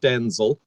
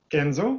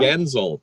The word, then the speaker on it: Genzel: And we've also brought along Martin, not Denzel. Maybe Martin, you can correct me. Genzel, that sounds right. Genzel, yes, rhymes with Denzel, Washington.